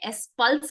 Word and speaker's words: S-Pulse: एस पल्स एस पल्स और कुछ लोग इसको य एस प्लस बोलते हैं सो ये प्लस नहीं है आप यहां पर देख पा रहे हैं इसका अ जो स्पेलिंग है वो आप यहां पर देख पा रहे हैं एक minute I just point yes एस पल्स है ये एस है और ये पल्स है इसको सही से हमें प्रोनाउंस करना है वेरी गुड रवि सर